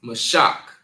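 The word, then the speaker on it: משח: And it's pronounced mash. Mash.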